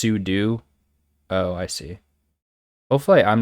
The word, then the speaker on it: sudo: utilities and stuff like technically it's su do because it's super user do yeah cube ctl or